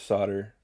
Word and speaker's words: solder: up saying it was solder cuz um I guess just American dialect is um like likes to use silent letters to confuse the crap out of people I suppose I'm not sure